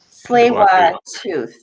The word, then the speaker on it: Tsleil-Waututh: And Janelle said that you pronounce it Tsleil-Waututh. Awesome. I'm going to try that all day today. Janelle, I'll memorize that one. Tsleil-Waututh.